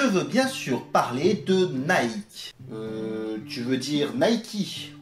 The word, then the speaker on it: Nike: mot que vous avez déjà tous sans doute prononcé au moins une fois dans votre vie je veux bien sûr parler de nike tu veux dire nay qui en fait ne